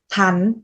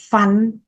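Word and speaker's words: ພັນ: Tiếp theo từ nghìn, nghìn hoặc ngàn, tiếng Lào đọc là thắn. Từ này mình phát âm là phờ. Thắn không phải phắn, phắn không phải là phờ phờ.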